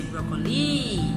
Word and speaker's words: broccoli: You don't say broccoli, you don't say broccoli, or you don't say broccoli. It's broccoli. So the first syllable is stressed, broccoli.